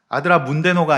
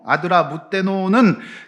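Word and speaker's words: 아드라뭇데노: 지금도 그렇지만 이 발음이 어려운데 아드라무떼노예요. 자, 아드라문데노가 아니고 아드라무떼노는 그 배에, 이제 배는 보통 그 배의 출신 지역을 갖다가 배에다가 짓는 것이 일반적이에요.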